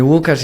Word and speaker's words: Łukasz: So I changed it into like English-friendly pronunciation of my name. So if you say Łukasz, it's how you would say my name in Polish.